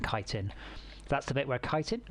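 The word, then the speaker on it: chitin: that's the bit where kiten that's how it's pronounce it's not shittin I found that out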